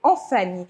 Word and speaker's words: Vnfvni: Parce que justement, il s'appelle Anfani. Son nom s'écrit comme ça. V-N-F-N-I.